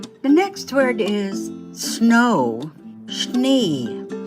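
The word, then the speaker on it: Schnee: noun now take note s c h this combination of letters that's pronounced as sh as in Shepherd shell so shne it's a masculine noun there shne German is fun do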